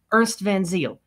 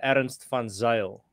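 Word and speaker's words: Ernst van Zyl: uh perfect form there when it comes to my my surname almost there it's uh aaron stefan zale uh but i mean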